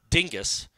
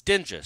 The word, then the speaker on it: Dinges: But it's not pronounced Dingus. It's Dinges.